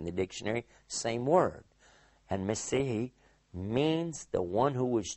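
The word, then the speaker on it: מָשִׁיחַ: the Old Testament, Messihi, which we as English speakers usually mispronounce and we say Messiah. But in fact, it is Messihi.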